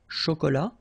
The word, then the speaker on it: chocolat: produce un chocolat chaud remember C H ch chocolat fin un café glacé